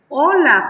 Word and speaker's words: hola: un ejemplo de respuestas aquí dice hola porque H aunque sea mayúscula no se pronuncia en nuestro lenguaje mexicano solamente se pone allí Hola y luego dice aquí